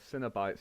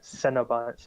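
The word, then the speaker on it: Cenobites: made a joke oh sinner bite sounds like a cinnamon base cereal that's sweet it's no it's not pronounced like cinnamon it's pronounced like it's c-e-n not c-i-n Cena bites or whatever then there's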